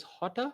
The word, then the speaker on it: Jota: Well, Nuno is bringing on it is Jota, but it's pronounced as hotter.